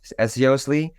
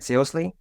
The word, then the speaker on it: SEOSLY: So there are basically like two types of pronunciation. At first, it was supposed to be SEOSLY because I wanted this to be from seriously. Then kind of more people used to call it SEOSLY, as sly as a fox.